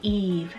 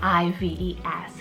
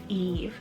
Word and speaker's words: Ives: Then I have Eve, spelled I-V-E-S, Eve. I've also heard it pronounced Ives, but it's Eve, and this one means you would.